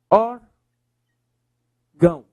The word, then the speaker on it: órgão: Qual é a sílaba mais forte? Ah, professor. Última, penúltima, paroxítona. É uma paroxítona. E é uma paroxítona finalizada em, em ão. Se é uma paroxítona finalizada em ão, leva o acento.